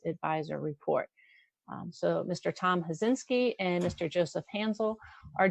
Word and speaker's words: Hazinski: sports complex by Tom Hazinski from HVC Convention and Sports Entertainment. I know I pronounced that name wrong, but Robbie, No, you got it just right. It's just like it sounds.